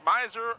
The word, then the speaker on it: Schmeiser: Schmeiser the right fielder will be leading off Schmeiser miser I want to put a extra syllable in there that's what I got you for you learned all these pronunciations we used to do the Russian national team I have a hard time with Jones Smith and brown I'm promising you it's a Schmeiser wheeler and Rostov will